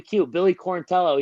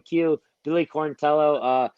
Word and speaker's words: Quarantillo: I want people to be like, oh, Billy Quarantello, he told us how to say it. So I know Billy Quarantello.